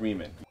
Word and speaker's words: Riemann: On Bernard Riemann.